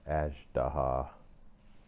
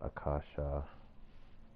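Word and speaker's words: Azhdaha: It's pronounced Ajdaha, not Akasha.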